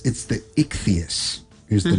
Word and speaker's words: Ichthys: It's the ichthyos is the name of it.